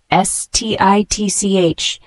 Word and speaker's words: stitch: The word stitch, S-T-I-T-C-H, is a noun pronounced as stitch.